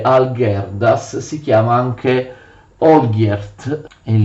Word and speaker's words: Algirdas: che si chiama Algirdas, così si scrive Algirdas, si legge Algirdas, si chiama anche Olgierd in Lituania.